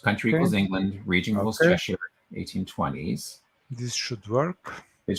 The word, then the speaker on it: Cheshire: Unsourced, country equals England, region equals Cheshire, 1820s.